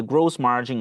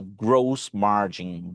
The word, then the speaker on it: gross margin: pronúncia de margem bruta, gross margin. Gross margin. Eu vejo esse o é fechado, tá? Eu vejo muita gente dizer gross margin, tá errado, é gross margin.